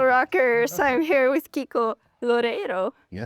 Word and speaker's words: Loureiro: Loredo. Lorero. Yeah, it's Yeah. Yes. Works well. Do you roll the R? Yeah, we roll the R.